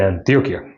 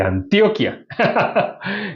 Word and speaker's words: Antioquia: Yo recibí la salvación en una ciudad que se llama Medellín, en Antioquia.